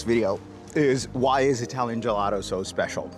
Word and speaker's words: gelato: Gelato. Gelato. With a soft T at the end.